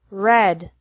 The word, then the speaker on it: read: another group has EA pronounced differently from the present to the past and past participle deal delt delt mean meant meant read red red hear heard heard another